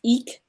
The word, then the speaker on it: Ik: the qualities of this car is pronounced eek EE K our spirit breath wind